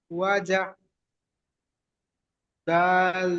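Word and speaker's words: وَجَدَ: ওয়াওয়ের উপরে জবর আছে, জবরটি হলো হারাকাত, হারাকাতের পড়া তাড়াতাড়ি পড়তে হবে, টান দেওয়া নিষেধ।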